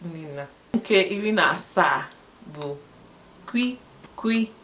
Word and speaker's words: kw: Kwi is KW. Kwi spelled as KW, pronounced as KWEE.